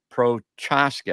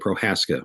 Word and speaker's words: Prochaska: intrude's case uh terence prochaska am i saying that correctly scott pro i think he pronounces that prohaska which is a felon okay so the silent ch well let's before we